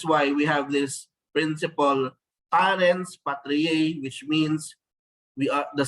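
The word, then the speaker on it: parens patriae: children that is why we have this principal parents patriar which means we are the state acts as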